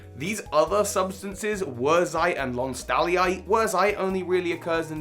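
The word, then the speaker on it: lonsdaleite: Of which Lonstalliite, as I've now realized it's pronounced, it is said to perform 58% more effectively than Diamond when subjected to certain strength tests.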